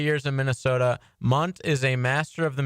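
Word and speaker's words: Mundt: It's Munt is how you pronounce it.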